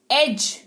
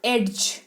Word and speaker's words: edge: एज, नॉट एड्ज, ठीक है, डी का उच्चारण नहीं करना है, इट इज एज, नॉट एड्ज, ठीक है।